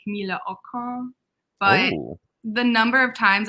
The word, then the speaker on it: Camilla Akrans: So technically her name is pronounced like Camilla Akrans.